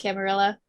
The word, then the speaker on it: Camarilla: It is pronounced Camarilla. Camarilla. Is it? Yeah. Man, that kind of annoys me, but okay. Like armadillo.